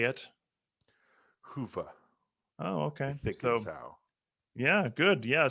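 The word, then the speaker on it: Hyvä: number what's up why don't you say it hoofah oh okay yeah good yeah so i i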